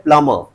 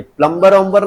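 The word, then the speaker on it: plumber: ये प्लमबर नहीं है ये। प्लमर है। क्या है? प्लमर। प्लमर मतलब नल फिटिंग करने वाला। ठीक है? तो ये है प्लम। तो यहां पर यह साइलेंट हो जाता है।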